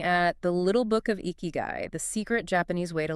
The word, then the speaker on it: Ikigai: That's kind of how eeky guy hit me. And well, that's exactly what we're getting into in this deep dive. Exactly. Eeky guy. It's pronounced roughly eeky guy.